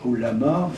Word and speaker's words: ouléma: Parce qu'il est apparu des mouvements musulmans traditionnalistes, en particulier le mouvement des oulémas. Alors, je dis ouléma, ça, en arabe ça se prononce oulama, mais je ne vais pas faire des vocalises.